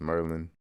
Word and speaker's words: Maryland: Like the AR just sounds like an ER. So Aaron is Ern. Maryland is Merlin.